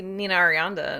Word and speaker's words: Nina Arianda: um disappointing to see nina arianda and or did i say her name wrong no you got it yeah to see her